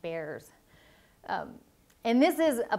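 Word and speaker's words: VAERS: adverse event reporting system or Bears rhymes with Bears um and this is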